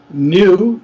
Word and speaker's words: knew: and pronounce that yeah next is new and new exactly new k-n-e-w is i knew what was going to happen i knew that it's the past of no okay yeah yeah second